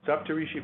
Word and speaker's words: Saptarishi: Health Research, and I'm delighted today to host Saptarishi. Solid effort. Solid effort. Yeah, it was good. No, it was good. Yeah. What's the correct pronunciation? Yeah. Okay. Saptarishi.